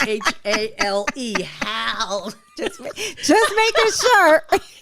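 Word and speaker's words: Hale: Hal. It's spelled H-A-L-E. Hal. Just making sure. Hell. I know every time I say it like that, people go, hell. No, Hal. She's like, just stop saying my name.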